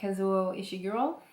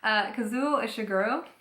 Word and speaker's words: Kazuo Ishiguro: And it's called L'été après la guerre, so The Summer After the War, by Kazuo Ishiguro. That was a French accent on the Japanese name, which is, whoops, Kazuo Ishiguro.